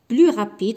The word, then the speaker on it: plus: ليفر غادي نستعمل بلوس كو لو ليفر اي بلو رابيد. ما غاديش ننطق هنا فاش غادي نكتب هنا بلو، ما